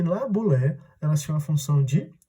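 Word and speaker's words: boulé: A primeira instituição que ele criou foi a famosa Bulé. Repare, Bulé se escreve B-O-U-L-E, mas às vezes você pode encontrar por aí escrito B-U-L-E, tanto faz.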